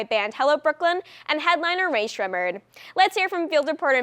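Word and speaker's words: Rae Sremmurd: It's Ray Shremmerd. Oh, we thought it was Summer.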